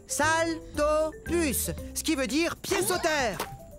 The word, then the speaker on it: Saltopus: plus salut je suis un saltopus ça se prononce saltopus ce qui veut dire